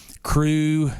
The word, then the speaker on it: Cru: but yes they they can go to uh crew Houston dot org and then there's a specific